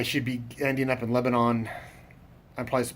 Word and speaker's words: Lebanon: be ending up in Lebanon I applies to pronounce that it looks like Lebanon like the country Lebanon as it's spelled Lebanon Missouri at the